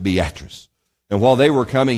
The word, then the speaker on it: Beatrice: It's spelled Beatrice, but they pronounced it Beatrice.